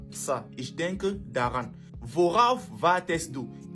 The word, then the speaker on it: worauf: Maintenant, on met un R pour faciliter la prononciation. Ça deviendra donc worauf.